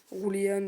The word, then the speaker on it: Julien: Rouliane, donc c'est espagnol. Voilà, ça s'écrit Julien, mais ça s'écrit, enfin ça se prononce Rouliane.